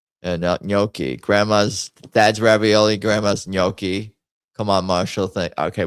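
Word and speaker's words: gnocchi: How do the Italians say noki? Is that right? The G is silent. You say you do not say ganaki. The gn makes a soft nasal ny sound similar to the in Spanish.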